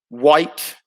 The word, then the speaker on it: white: White. Yep, silent H in white.